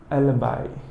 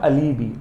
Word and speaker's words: alibi: एलबाई। इट्स नॉट अलीबी, एलबाई। एलबाई, the pronunciation is एलबाई, right.